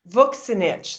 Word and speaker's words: Vuksinich: say your last name voxen itch like books in itch oh yes sin the thing we're not supposed to do and look like book got it got it